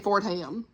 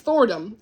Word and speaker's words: Fordham: I've been saying Fordham. It's forom.